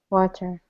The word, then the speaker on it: water: predict the tea huh you should always pronounce the T okay but why you didn't plan on staying the tea they're being lazy okay water then water that's correct you'll notice